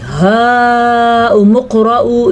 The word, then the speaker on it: هَاؤُمُ اقْرَءُوا: هَاؤُمُ اقْرَءُوا. اچھا جی هَاؤُمُ اقْرَءُوا اس کو اتنا لمبا کریں گے 5 الف کے برابر.